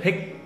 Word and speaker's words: thích: Những từ có i, c, c, h như thích thì kiểu như là thay thế c, h bằng chữ tờ đúng không? Đúng như rồi. Kiểu thích thì thích.